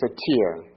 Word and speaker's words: Satir: And one of the person that's an expert in this area here of communication themes is Virginia Satir. Uh last name is spelled s a t i r.